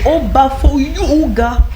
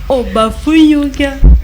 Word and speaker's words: Obafoyuga: Non, c'est pas ça, c'est Obafoyuga. Obafuga. Non, tu as dit Obafoyuga. Ça n'a pas la même, c'est pas la même prononciation, on n'a même pas le même ton, tu vois.